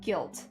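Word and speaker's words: Gylt: I I I think it's called uh guilt but it's spelled with like a y so it's like g y l t guilt that's the game that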